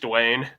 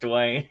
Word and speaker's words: Duane: Is that actually pronounced in the band name? No, it's just Dwayne. It's just Dwayne.